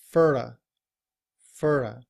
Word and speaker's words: for: Fur fur.